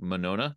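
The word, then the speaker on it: Monona: guys will have to correct me on my pronunciation here Lake m and Lake manona did I get those right yep nailed it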